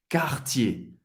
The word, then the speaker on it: Cartier: Duas sílabas. ER no final de uma palavra tem o som do E. Cartier.